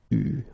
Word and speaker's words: eu: Il a eu, okay, you write it like that, but you pronounce it eu, okay. So tu, here the participe passé, eu, and then plus.